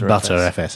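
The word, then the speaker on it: Btrfs: you can optionally use butter fs i couldn't figure out how to pronounce that bt rfs i can't believe it's pronounced butter fs as in yeah as in the butter spreadable yes the unified sound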